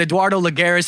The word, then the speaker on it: Eduardo Lagares: All right, so you've also got your Nightmare shots with Eduardo Lagares. Am I pronouncing that right?